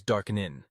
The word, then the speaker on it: DAQNN: Network, or DAQNN, which they insist on pronouncing as Darkenin.